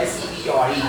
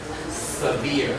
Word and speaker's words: severe: Yeah, this word S-E-V-E-R-E. The pronunciation is severe. 第二个音节哦 severe.